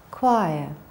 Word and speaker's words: choir: Anchor, ღუზა, school, სკოლა, character, პერსონაჟი, გმირი, choir, სასიმღერო გუნდი. So, CH we pronounce as K, school, anchor.